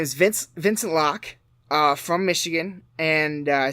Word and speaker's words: Locke: on Vince lock and I kept calling them locky I feel like a dick because not after I watch that episode that documentary I know how it's pronounced but his name is Vince Vincent Locke from Michigan and I said that last time